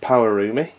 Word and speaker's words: Pawarumi: gonna show you is power roomie and that is how you say it and with something you